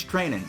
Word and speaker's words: Treinen: to pronounce his name it's not trying and I guess it's training so I've been wrong